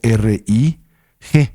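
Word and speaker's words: རིག: La palabra para la naturaleza esencial de la mente se escribe solo R-I-G, rig, ¿verdad?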